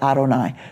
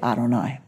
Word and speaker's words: Adonai: So I was taught to say Adonai. So whenever you see Yud Hey Vav Hey, I will say Adonai.